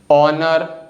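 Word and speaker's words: honour: ठीक है, और इंग्लिश लैंग्वेज में कुछ वर्ड्स ऐसे होते हैं जिसमें जो लेटर एच है ना, यह स्टार्टिंग में आता है और साइलेंट होता है, जैसे कि ऑनर, ऑनेस्ट, आवर। तो इन तीनों वर्ड्स में जो लेटर एच है ना स्टार्टिंग में आ रहा है और यह कोई साउंड नहीं बना रहा है, इसीलिए लेटर एच साइलेंट है।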